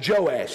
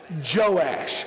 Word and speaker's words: Joash: I want everybody practice say his name it's joash everybody said it out loud joash okay his mother was zabi won't make you